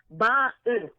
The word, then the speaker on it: Barton: And I am pronouncing it properly. Barton. B-A-R-T-O-N.